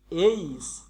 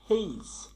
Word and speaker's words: H: অ্যাপ, জি, এইস বা হেইস। এইস এবং হেইস এর মিডিলের যে সাউন্ডটা ঠিক এইরকম উচ্চারণ, হেইস, হেইস।